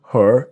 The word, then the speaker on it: her: Now, the crucial part is the word her is H-E-R. But native speakers don't always pronounce the letter H sound.